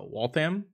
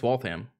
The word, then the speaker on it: Waltham: do you pronounce uh Waltham no it's Waltham not Walt ham there's a lot of